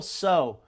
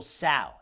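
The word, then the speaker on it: Tso: not but I heard that General so is actually pronounced General sa and it was General sa sa and it's in English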